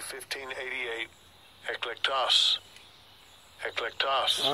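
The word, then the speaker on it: ἐκλεκτός: Eklektos.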